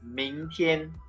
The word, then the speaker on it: 明天: Okay, so the second one is 明天. Okay, 今天, 明天.